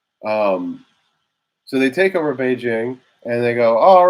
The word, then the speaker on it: Beijing: And we always say Beijing.